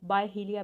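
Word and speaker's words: Byhalia: William Faulkner born September 25th 1897 new Albany Mississippi, died जुलाई 6 1962 बहालिया। कुछ लोग इसको बायहिलिया भी प्रोनाउंस करते हैं।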